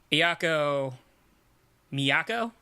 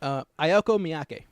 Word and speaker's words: Ayako Miyake: First of all, Ayako Miyako? Is that how you say it? Ayako Miyake. Ayako Miyake. Gotcha.